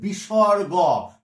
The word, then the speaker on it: বিসর্গ: আর এটা এটা যে উচ্চারণ, এটাকে উচ্চারণ হচ্ছে বিসর্গ, বিসর্গ বা গো, আর রাঢ়বঙ্গে ও উচ্চারিত বিসর্গ, এর উচ্চারণটা কি হয়ে যায় বলতো?